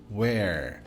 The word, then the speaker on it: where: de mostrar os exemplos atenção com a pronúncia de Where é assim mesmo aberto Where se você falar o ou fechado isso aqui é o passado do verbo to be o you are at